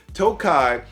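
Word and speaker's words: Tokaji: before it went into a Tokai cast now Tokai is spelled kind of Takashi so I'm glad I did my research before I came on here and I mispronounced it but Tokai is a wine a very sweet wine that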